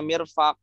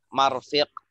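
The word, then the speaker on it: مرفق: Kenapa kau tahu bacanya mirfaq? Tidak dibaca marfiq.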